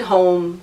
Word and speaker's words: H-OM: So HOM, I pronounce it as home because it's H for Helene, or now health, healing, and happiness. So HOM as in om. So I pronounce it home, but there's no E at the end.